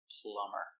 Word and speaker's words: plumber: It's not a very common word, but plumber is, and that's the reason the b is silent. Plumber.